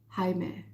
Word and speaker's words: Jaime: You know, it's pronounced Jaime. Oh, Spanish.